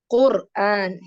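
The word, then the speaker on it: قرآن: റോ അക്ഷരത്തിന് സുക്കൂൻ വരുമ്പോൾ തൊട്ടുമുള്ള അക്ഷരം ദമ്മ. So this is heavy. Quran, heavy.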